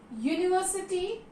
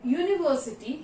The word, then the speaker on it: university: But university, here university, U is a vowel, but we will not use an university.